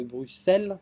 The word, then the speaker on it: Bruxelles: Les fameux bureaucrates de Bruxelles, j'ai prononcé correctement, Oui.